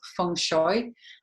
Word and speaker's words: feng shui: function way the words it's often pronounced Fong shui and it means wind and water so that describes the